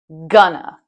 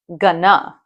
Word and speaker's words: gonna: The emphasis is on the first part of the word. Gonna, not gonna.